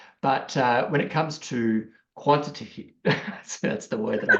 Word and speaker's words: quantitative: sure I get the emphasis on the right syllable. But when it comes to quantitative. That's the word that I can't say. Quantitative.